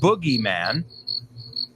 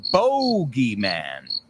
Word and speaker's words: boogeyman: or as the British so the Americans say the boogy man and the British say the bogy man right so the Boogey